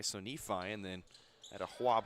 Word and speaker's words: Nephi: cuff at Nephi, Utah, which I learned that was it's pronounced like Wi-Fi, so Nephi and then at a Huab High School.